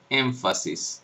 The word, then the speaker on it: énfasis: esto aparece por ejemplo en palabras como énfasis que se escribe con n pero se articula como una un sonido la biodental nasal como una m dental énfasis énfasis la gente